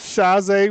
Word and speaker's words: Shaze: Hey, Lucas, and it's Shaze, rhymes with blase, but I'm nothing like it.